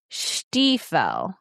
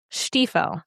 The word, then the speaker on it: Stiefel: I looked up the pronunciation of his last name. This is the guy who played Cooper. yeah. Stiefel. Stiefel.